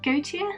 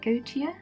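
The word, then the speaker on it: Goetia: i have got here gautier i i don't know if i'm pronouncing this right it's g-o-e-t-i-a go to and i have played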